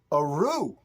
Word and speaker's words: Athru: the channel sample so I appreciate that um a rue that's how you pronounce this uh cash see the cashier cash